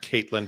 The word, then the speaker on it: Katlyn: So it is Caitlyn. Pronounced Caitlyn but spelled Catelyn.